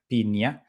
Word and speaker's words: Pinia: So I just chose a name that was available and that was very close to the pronunciation, which is with an I, piña, because in English it sounds very close to the piña, piña, piña.